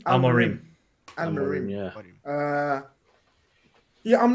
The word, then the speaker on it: Amorim: Amorim.